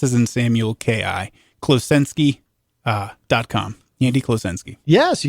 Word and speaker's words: Klosenski: I mean, three three syllables, three three word letters per syllable. all phonetic, but it's a it's a weird string of phone names, right? So, it's uh Andy Kloenski, K L O S